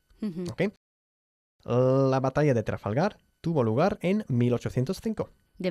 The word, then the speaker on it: Trafalgar: And by the way, we pronounce Trafalgar, Trafalgar.